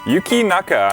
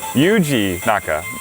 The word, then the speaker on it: Yuji Naka: the creator of the game his name is Yuki mecha I'm probably mispronouncing his name bad I see you Yuji naka I apologize mr.